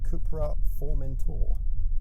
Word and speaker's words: CUPRA Formentor: So here we go then, driving the CUPRA Formentor. That is actually how it's pronounced, by the way.